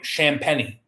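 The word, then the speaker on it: Champagnie: starting with uh julian champanee uh he's leading the big eastern scoring um also you pronounce his name champany um i had to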